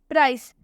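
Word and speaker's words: price: प्राइस, प्राइस में सी के बाद ई आ रहा है, तो इसलिए हम प्राइस में भी सी का उच्चारण स से करेंगे।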